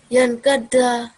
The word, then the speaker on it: ينكسر: ينكسر You're not pronouncing the word right, the letter right. ينكسر Yan, ينكسر good.